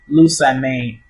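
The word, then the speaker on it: Lusamine: First one, Lasman, Lusaman, like Jasmine, so it's Lusaman, Jasmine, Lusaman.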